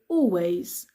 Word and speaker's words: always: difficult so always always the L is silent I always do I